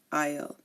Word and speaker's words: isle: Island and we have Isle again notice that I did not pronounce the s in any of these again I Bourgeois deep breathe